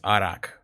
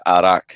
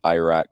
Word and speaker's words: arak: of your american friends one of our american friends kept pronouncing it iraq whenever you ordered it yeah please stop doing that he is just he